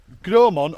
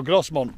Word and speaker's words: Grosmont: As we are just walking towards Gromont or Grosmont, depends how you see it and how you pronounce it.